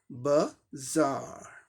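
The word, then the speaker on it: bazaar: आर का र sound British English pronunciation में omitted होता है, साइलेंट होता है। ये सिंबल ब्रिटिश इंग्लिश दिखाता है शॉर्ट्स। अब देखिए इसका क्या हो जाएगा, बाजार, बाजार, बाजार, बाजार, बाजार, है ना।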